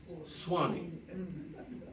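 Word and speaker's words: Swanee: Gulf of Mexico and he took out the U because he needed only two syllables so suani became Swani within one year of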